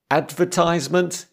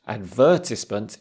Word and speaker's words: advertisement: which but you're right advertisement is American English advertisement is British stress is on a different bit yep also known as